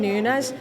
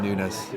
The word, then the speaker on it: Núñez: So everyone's firing, and I think like Darwin Núñez, you kind of need to keep him in